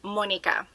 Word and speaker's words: Monica: I'm talking to, like, my name is pronounced Monica, like in Spanish language, and my husband's is Khalid.